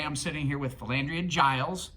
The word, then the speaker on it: Giles: sitting here with philandria giles pronounced like j but but it's spelled